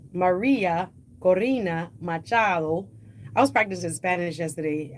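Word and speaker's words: María Corina Machado: Maria Corina Machado.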